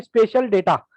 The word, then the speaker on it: spatial: Spelling देख लेना, SPATIAL, स्पेशल डेटा।